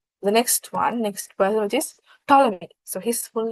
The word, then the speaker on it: Ptolemy: Ptolemy, P is silent.